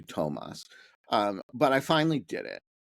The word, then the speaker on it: Toomas: I see his name, it looks like it's Toomas Hendrik Ilves. So it took me a while to internalize that that it was actually Tomas, but I finally did